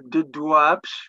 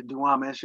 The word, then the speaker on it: Duwamish: And the people who lived along the Black River here, I'll mispronounce this, but they were called the Duwapsh, which we anglicized to Duwamish, and their main villages were along the Black River.